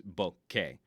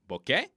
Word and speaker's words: bokeh: while holding Canon cameras, the closest is Bokeh. But then they explained sometimes it's a bouquet, where it almost sounds like a bouquet of flowers, like a bouquet of flowers.